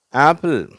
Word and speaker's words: ஆப்பிள்: இது ஆ தனியாக, பில் தனியாக உச்சரிக்கப்படுறதுனால இது 2 சிலபல் ஆகிடுது. அதற்கு முதலாவது அந்த உச்சரிப்புக்கு கொஞ்சம் அழுத்தம் கொடுக்குறோம். சரியா? ஆப்பிள். அதனால் இங்கே அந்த ஸ்ட்ரெஸ் மார்க் இருக்குது, குறியீடு இருக்குது.